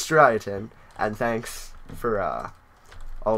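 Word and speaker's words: Striaton: like that well yeah we called it stration but it's it's strien and thanks for uh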